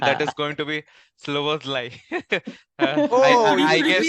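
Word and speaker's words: Szoboszlai: Sloboslai. Oh, I'm going to That tongue twister. tongue Sober, twister, sober. Sloboslai.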